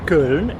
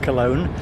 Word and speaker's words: Köln: And in case you're wondering why I said Köln instead of Cologne, I do habitually use the local pronunciation of place names where I can say it or where I know it.